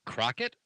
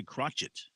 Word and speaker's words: Crochet: maybe it's crochet c-r-o-c-h-e-t how would you pronounce that pat you're a linguist at heart uh crockett crockett not say crotchet ch she was a